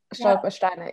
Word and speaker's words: Stolpersteine: And I'm going to mispronounce this, but I was thinking of the project with the Stolperstein. Is that what they're called? Yeah, Stolpersteine, yeah.